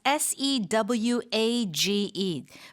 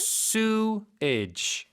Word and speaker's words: sewage: And sewage is s e w a g e pronunciation again. Cameron Sam sewage.